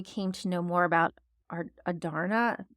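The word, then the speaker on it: Andarna: I loved how we came to know more about Adarna, that's how we say her name, in her kind, especially while seeing still some of her snark as a teenage dragon.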